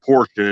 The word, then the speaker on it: Portia: Yeah, there's a stretch between Mammoth Spring and what's called Portia. It's spelled Portia, Arkansas, but it's pronounced the same name as the car company.